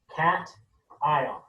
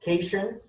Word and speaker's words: cation: you understand this is pronounced cat ion it's not casion it is cation this